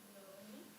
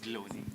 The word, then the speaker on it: Bloni: Over to the brand Bloni. Am I pronouncing it right? Bloni. Yeah, it's called Bloni.